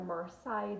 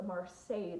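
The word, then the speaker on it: Marseille: mar deck I have previously butchered the word and called it a marsai deck it is a marsay deck pardon me I rarely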